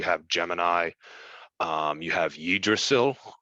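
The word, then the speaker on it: Yggdrasil: Gemini um you have yidrosil that's the correct pronunciation of it because it's Norse but uh you just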